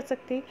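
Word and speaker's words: 酒: India में हम इसको प्रोनाउंस करते हैं सिक, बट जो राइटर के एडवाइस से यहाँ देखिए दिया भी गया है कि हम जो है एस ए को प्रोनाउंस्ड करेंगे जैसे एफ ए को प्रोनाउंस्ड करते हैं, और के की जो राइमिंग है वो हम मैच करेंगे डब्ल्यू ए वाई वे के साथ.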